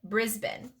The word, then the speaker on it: Brisbane: It's in Australia, and they pronounce it Brisbane.